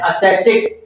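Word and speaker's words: ascetic: एसटिक इसका उच्चारण है एसटिक।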